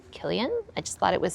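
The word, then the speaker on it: Cillian: And when I just saw this name, Killian, I just thought it was so pretty with the C, even though it's pronounced with a hard C sound. Killian.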